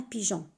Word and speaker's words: pigeon: La même chose avec le mot un pigeon. On a mis E entre G et O pour avoir le son J.